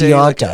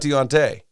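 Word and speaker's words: D'Onta: It's Deonta. Like, I don't know. Like, okay, it's Deonta? It's it's not Deonte. I said Deonta Foreman.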